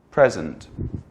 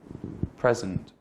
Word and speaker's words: present: this word out loud present present if you said present you were talking about a noun that means either right in this moment or a gift if you say present